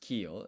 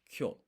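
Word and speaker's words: きょ: So it's not pronounced kyo, it's a blended sound, kyo.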